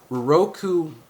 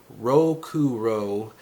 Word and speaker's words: Rokuro: translates to in English Roku that's not how you say it rokuro dreams of being becoming